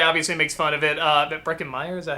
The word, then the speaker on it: Breckin Meyer: Breckin Meyer, is that how you say his name?